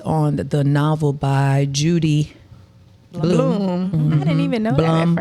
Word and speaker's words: Blume: but when it's spelled what? BLUME. It's probably so it's probably Bloom. See, I was Probably thinking Blue Blum. May. No. Judy Bloom. I've never heard anybody else pronounce it any differently than Judy Bloom.